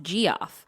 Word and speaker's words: Geoff: Also, when I turned 16 many moons ago, my dad got me a life-size skeleton from Costco, and I named it G off, pronounced G off.